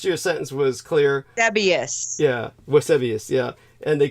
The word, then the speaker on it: Eusebius: Eusebius.